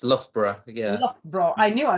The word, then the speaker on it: Loughborough: Except it's pronounced Loughborough.